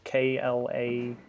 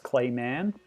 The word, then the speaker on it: Klaymen: His name is spelled K-L-A-Y-M-E-N. Klaymen. If you do know Japanese, you would have seen on the title screen back there, it's actually rendered as Klayman, Klayman.